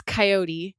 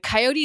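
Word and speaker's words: Kaiyote: listen to it and coyote is spelled with a k a i o sounds ridiculous as I'm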